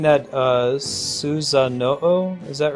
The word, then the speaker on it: Susanoo: Is it, should I be pronouncing that, Susanoo? Is that right? Yeah, the legendary swordsman who fought Orochi. Exactly, Sornas. Hey, thanks, game. It's Susanuo? Uo, not Oo.